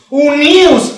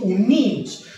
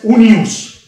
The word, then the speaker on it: unius: “valorar” “Valoremos los rumores de aquellos en un as” Aquí se pronuncia “únius assis”, suele pronunciarse “uníus” pero mejor se debe pronunciar ('ananke métrou' por necesidades métricas), se debe pronunciar “únius” “Valoremos todos los rumores” ¿de quién?